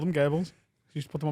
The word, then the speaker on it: Goebbels: Goebbels. That's how they pronounced it in Germany.